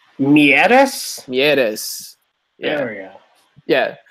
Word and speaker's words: Mieres: Gaston Mires led the way for Toronto. Is he even French? Why am I pronouncing him like that? Mieres.